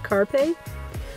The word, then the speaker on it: Carpe: His name is Carpé, as in Carpe Diem. For some reason, sometimes when I say Carpe, I say it like too fast or something, and people think I said carpet. And they're like, that dog's name is Carpet? No, it's Carpe.